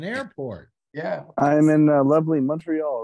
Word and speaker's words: Montreal: you're in an airport yeah I'm in lovely Montreal right now you see that's how it's pronounced by the way folks he's doing it correctly it's Montreal right unless you're a French Canadian it's morial oh really but Montreal Montreal yes this is